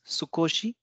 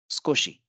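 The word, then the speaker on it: 少し: which means a little so the word is sukoshi sukoshi so here and are doing voiced consonants who appearing in between them it gets divised and we have squishy squishy squishy this is a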